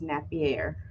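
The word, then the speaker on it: Napier: it i said it i have said it wrong for years i've always said an fba but i guess it's nappier it is a really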